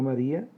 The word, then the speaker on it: María: Veamos el caso de la palabra María. Tenemos que pronunciarla correctamente. Si lo hacemos, vamos a verificar que la palabra María se descompone en tres sílabas.